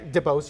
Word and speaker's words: DeBose: And then, as expected, Ariana DeBose, is that how you pronounce her last name? Yeah, DeBose, yeah.